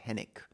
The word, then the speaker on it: Henwick: This is a movie that came out in March and it stars Glenn Powell, Margaret Qualally, Jessica Henik or Henwick, I think it's pronounced Henick, and a number of other people that you will recognize the moment you see them.